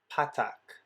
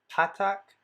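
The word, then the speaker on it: פַּתַח: a vowel under it that vowel is called patak patak has an a sound which is a short a sound like in english when we pronounce the word father so you would pronounce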